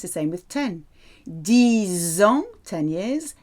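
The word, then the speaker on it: dix: 10 ans, 10 years, 10 mois.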